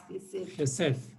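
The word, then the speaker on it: חסד: Este es como J. Sí. ¿Ya? Este es como S. Y este es como una Dalet. ¿Ah? ¿Qué? Gesed.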